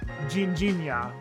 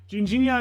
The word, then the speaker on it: Ginjinha: It's a Portuguese liqueur called Ginjinha, or I'm sure there's a much more Portuguese way of pronouncing that, but that's how you usually hear it. Ginjinha is a cherry liqueur, and it's really famous in Lisbon in particular.